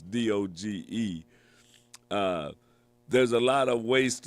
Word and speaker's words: DOGE: Now, as the Department of Government Efficiency, DOGE, as they have on there, or however they want to pronounce it, but it's DOGE.